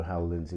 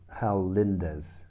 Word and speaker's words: Hal Lindes: on the album, although Hal Lindsey was sorry, Hal Lindes. I knew I'd got it wrong. Sorry, apologies. Hal Lindes, I think is how you pronounce it.